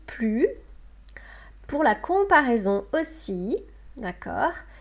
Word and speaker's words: plus: On avait vu avec le nom, avec le verbe, c'était plus. Maintenant, on voit une autre comparaison devant un adjectif ou un adverbe où c'est plus, parce qu'il commence par une consonne.